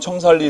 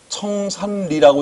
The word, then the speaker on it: 청산리: 자, 다음에 92번 청살리 읽어 시작. 표준어를 쓰고 있는 우리 충청북도 청주의 학생들 중에 청산리라고 읽는 학생이 있네. 따라해 청살리.